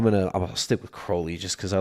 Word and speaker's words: Crowley: I actually think I think Crowley would probably be the more appropriate pronunciation because I think feel like that's the more more British the more English way.